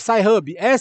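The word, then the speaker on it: Sci-Hub: Como é que se escreve SHub?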